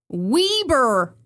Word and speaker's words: Weber: Well, the people of Utah have told me that it's actually pronounced Weber Canyon, to which I say weber change the spelling then.